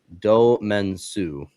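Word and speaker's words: Dosunmu: IO uh Demenso Dmensu, that's how you say his name.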